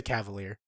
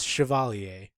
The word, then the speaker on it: Chevalier: Yeah, they just say Cavalier. It's like no. It is pronounced. It is spelled the French way. It's Chevalier.